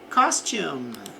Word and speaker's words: costume: Costume, veja que aqui não pronunciamos o E no final.